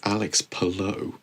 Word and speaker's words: Alex Palou: It just it's Alex Palou. Say it correctly.